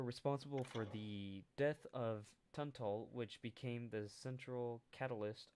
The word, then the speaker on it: Tunstall: newly arrived Englishman, John Tunstall. No, the S is silent. I feel like the S would be silent.